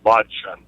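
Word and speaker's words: Blaudschun: Yeah, we do have, I gave you the wrong pronunciation. It's Mark Blod. I forgot the H pronunciation. Blodge.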